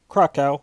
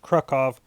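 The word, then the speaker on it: Kraków: that's going to be in the donsk OR Krakow which is actually pronounced krukov in Poland is yet to be determined I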